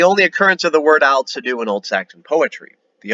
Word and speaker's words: Aldsidu: Aldsidu is how you say this in Old Saxon.